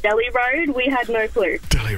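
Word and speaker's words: Delhi Road: Hill yeah thanks very Casey give us a pronunciation of a a well-known Sydney Road yes we say Del high road and until my Indian boyfriend told us all that it's pronounced Deli road we had no clue Deli Road well you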